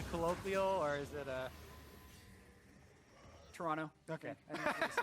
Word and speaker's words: Toronto: prepare to head to Toronto I was told actually by a tweet it's pronounced Toronto with no uh no T oh yeah today I